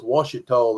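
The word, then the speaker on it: Ouachita: don't look like Washita, but that spells Washita. That's how it Is is. that how you say it? That's how you say the O word. O-U-C, O-U-A-C, H-I-T-A. That's Washita.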